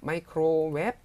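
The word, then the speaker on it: ไมโครเวฟ: 마이크로웹 삼성으로 하셔야 돼요. 원래 이성이잖아요. 웹 해야 되잖아요, 원래는. 근데 마이크로웹 하고 발음하시고요. 줄여서 그냥 웹이라고도 합니다.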